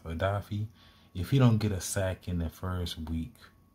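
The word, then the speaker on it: Odafe: Then I want to see, man, that'd be something if Odafi, I think that's how he said he wanted it's pronounced, Odafi.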